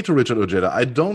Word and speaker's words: Richard Ojeda: I'm Richard Ojeda. I am Richard Ojeda.